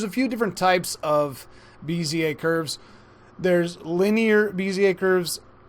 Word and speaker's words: Bezier: I ended up what I thought was the Bezier curve, but I learned that I was completely wrong because the dictionary told me BZA that it's a BZA curve and Wikipedia actually